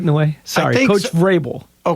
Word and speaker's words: Vrabel: Coach Vrabel. Okay. Vrabel. Yeah. Thank you. With the V. You have to pronounce the V.